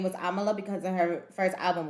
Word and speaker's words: Amala: you're your name I'm going to try to pronounce it uh Amala Amala perfect Amala yeah okay yeah that's